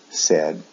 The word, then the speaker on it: said: pronunciation is different say said said the pronunciation is a short e sound e said in both the past and the past participle also with the s form we